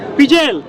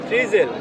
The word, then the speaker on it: ফ্রিজেল: পিজেল? জি, এটা আমি উচ্চারণ ঠিক করছি, পিজেল? ফ্রিজেল। ফ্রিজেল না পিজেল? ফ্রিজেল।